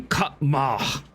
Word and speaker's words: Kama: which, as you notice, she mispronounced that. It should be Kama. There's a good old stop after the first A.